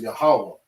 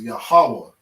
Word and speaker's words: Yahawa: god strengthens all right the proper name of the most high is yahawa when you read through your bible you might see jehovah or yahweh okay but the proper way to pronounce that is yahawa so yakaz zakal yakazaka